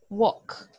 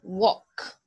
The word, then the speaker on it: walk: know China walk the rest and yes duh walk walk listen whoa look it's like saying the K sound at the end walk walk there you go okay those are perfect